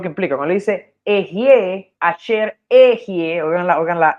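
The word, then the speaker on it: אֶהְיֶה: ok, voy a explicarlo, se lee esta Aleph, esta letra Ale, estos tres puntitos es una E, y esta es otra E con tres puntitos. E, Ji, esta es una especie de J suave, Jie, ok, entonces esa pronunciación,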